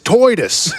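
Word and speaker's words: Tidus: $10 from Anie who says, "Oi, you're pronouncing his name wrong. It's Toyidis."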